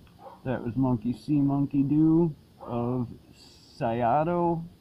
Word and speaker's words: Syato: was monkey-see monkey-do of sigh ah doh i pronounce it it's spelled sy 8000